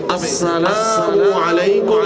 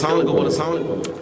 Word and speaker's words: আসসালামু আলাইকুম: আমাদের নুরানির বাচ্চারা দেখবেন রাস্তা দিয়ে যাওয়ার সময় পরিচিত সবাইকে কত সুন্দরভাবে সালাম দেয় সহিহ উচ্চারণের মাধ্যমে, আসসালামু আলাইকুম ওয়া রাহমাতুল্লাহি ওয়া বারাকাতুহু।